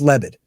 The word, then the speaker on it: Lebed: don't have it in front of me uh lebed oh it's just lebed right yeah and then um I was I was thinking of mvev and that was screwing me up it's just lebed general leit and then um the guy from